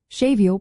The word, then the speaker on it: séimhiú: Shavio pronounced shavio is like softening a consonant.